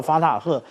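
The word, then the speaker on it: Fattah: 我们刚刚讲到法塔赫，或者是有的翻译叫做法塔，因为它的后面的 H 有没有发音那这是我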